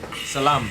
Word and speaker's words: salam: That's not how you say it. Salam. Just say salam.